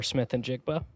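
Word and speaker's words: Smith-Njigba: Pronunciation. It's Jaguar Smith and Jigba.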